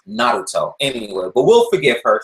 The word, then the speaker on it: Naruto: only been in the US but yeah it's pronounced Naruto anyway but will forgive her she's a newbie